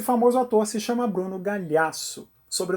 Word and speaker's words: Gagliasso: autor se chama Bruno Gagliasso sobre o nome dele é italiano e eu GL no italiano tem o mesmo som do nosso LH logo esse G é mudo quem nunca teve um